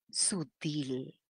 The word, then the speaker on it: sutil: vio un error cuidado la pronunciación es sutil de ahí que surge el adverbio sutilmente haya o sea que sí la voy a pronunciar así y la mayor fuerza de voz está en la última sílaba es una aguda terminen l por eso